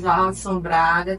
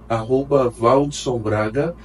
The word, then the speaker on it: Valdsom: Se você que está nos assistindo quiser acompanhar meu trabalho, tem meu Instagram, @ValdsonBraga. O D é mudo e M no final.